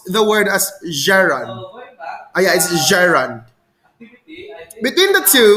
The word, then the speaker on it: gerund: G- sounds like the name of Jerry. Jerry. Gerund.